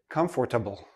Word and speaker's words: comfortable: I've heard many students say, comfortable, comfortable. But native speakers, we don't say this part. We don't say the or. We say comfortable.